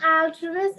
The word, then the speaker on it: altruist: Ma'am, in altruist, are we stressing on the first syllable? Yes, exactly. Altruist. Altruist.